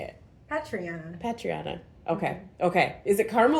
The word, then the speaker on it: Patriana: Patriana.